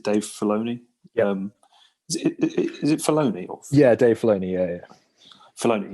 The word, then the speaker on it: Filoni: Is it Filoni? Or Dave Filoni. Yeah. Filoni. Yeah. I didn't know if I was pronouncing it right, but Dave Filoni sits there and he basically explains.